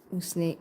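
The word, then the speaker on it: усне: Usne is the lips. Okay. That's very clear. It's pronounced like s.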